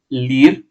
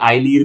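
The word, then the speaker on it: Ilir: ठीक है, इन्होंने किसको रिप्लेस किया है, इन्होंने रिप्लेस किया है लीर लीर मेहता। ठीक है, या आई लीर भी कह सकते हैं। ठीक है, मैंने आई को साइलेंट कंसिडर किया है।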